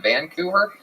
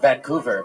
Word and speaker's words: Vancouver: Vancouver I've heard of Vancouver but never Vancouver what have you heard of Vancouver what what what did I say Vancouver you put the wrong emphasis on the wrong salel okay I I don't